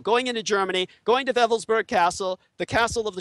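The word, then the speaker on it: Wewelsburg: This is why Colonel Michael Aquino, during the 1980s, traveled to the Schutzstaffel Castle of Wevelsburg, spelled with W's, it's pronounced as a V in the Germanic, W-E-L-S-B-E-R-G.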